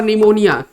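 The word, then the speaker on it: pneumonia: word लेते हैं और निमोनिया निमोनिया निमोनिया देखिए निमोनिया में यहां पर पी क्या है साइलेंट लेटर है साइलेंट लेटर है तो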